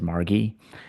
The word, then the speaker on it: Margi: named Margie Kent, who I always called her Margie because it's spelled M A R G I, but I've heard her pronounce it as Margie.